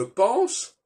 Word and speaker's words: pense: On dit je pense, alors qu'on devrait dire je pens, et on ne prononce pas le S final.